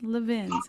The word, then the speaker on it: Levin: Yeah, our friend just wrote us and said, it reminds me, it rhymes with love wins, Levins.